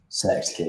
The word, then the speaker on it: Synecdoche: I've seen can never pronounce the first word, New York. Synecdoche, yes.